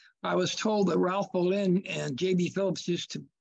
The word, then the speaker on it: Bolin: It's Bolin. He was an ichthyologist at Hopkins. Yeah, yeah. He was a good friend of J.B. Phillips. They used to, in fact, I was told that Ralph Bolin and J.B.